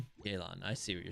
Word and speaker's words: Yelan: You say, I say it like yay. Yelan.